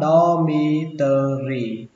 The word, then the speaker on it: dormitory: Ký túc xá đọc là dormitory, xuống giọng ba âm sau lên giọng âm đầu tiên, dormitory dormitory.